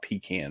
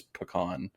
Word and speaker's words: pecan: can yeah it's pecan look a lot of people have problems with the con part of it because they're like c-a-n why is that con I mean A's A's